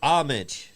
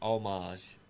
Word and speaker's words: homage: night at the cage it's homage the H is silent it's how it's pronounced I mean Scott D said h well Scott Diamond's allowed to say it he's a veteran he's a he's earned the rights to mispronounce words well he's actually pronouncing it right though it's pronounced omage that's he about to